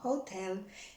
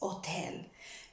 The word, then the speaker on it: hotel: is the word hotel remember the h is not pronounced so it's not hotel is hotel now if you want